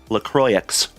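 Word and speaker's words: LaCroix: And then Lacroy, spelled like Lacroyax, but it's Lacroy.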